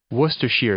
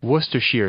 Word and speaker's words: Worcestershire: Worcestershire sauce. Sheer. This is according to Merriam-Webster. Worcestershire sauce. I'm looking at the pronunciation.